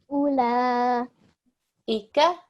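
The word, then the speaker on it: أولئك: The waw carries nothing on top, so we don't pronounce it. We ignore it. U, U. la, La. ula, Ula. ika, Ika.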